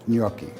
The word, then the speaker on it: gnocchi: in gnocchi and it's a hard word to say in italian the g is a terrible world val or consonant to pronounce in italian but a gnocchi this way you sound intelligent yucky so the ingredients uh